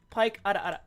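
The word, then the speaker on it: Pieck: Dude, the peak the I think it's PK or Pike. Pike is so adorable. Here, I'll show you real quick. This is now a React stream. Um, Pike.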